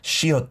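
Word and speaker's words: ㅅ: But one of the patchim rule is when the shiot is in this patchim position in the last consonant position, you pronounce it as tigut.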